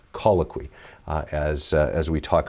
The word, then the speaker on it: colloquy: Uh, and so, it that's really what it's based on and it's it's pronounced call a que, colloquy, uh, as as we talk about it in LCC.